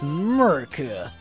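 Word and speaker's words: Murkrow: It's Murka.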